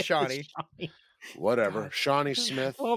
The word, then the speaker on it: Shawnee: That Schwaney Smith might be returning for that, so that Who? might. Who? be all right. Who? Schwaney? How do you say her Shawnee? name? Shawnee? Is it Shawnee? It's Shawnee.